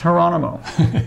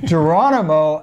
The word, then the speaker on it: Geronimo: Oh, and by the way, Geronimo, not pronounced Geronimo, Geronimo Allison won't play either.